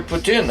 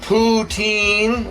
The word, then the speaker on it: poutine: because we're making another putin i'm doing another pretend video uh if you want to pronounce it poutine well that's not how it's pronounced but most people say it putin is what we're making